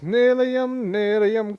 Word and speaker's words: nylium: I believe it's Nilium, kick back and chillium, Nilium, come get your fillium, Nilium, ba-dum.